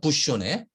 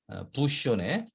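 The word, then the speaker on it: bouchonné: 이 부쇼네라고 하는 발음이에요. 부쇼네. 부쇼네.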